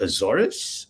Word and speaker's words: Azores: who was at the azores zorus how do you pronounce that as it's like if you sneeze but it's easier okay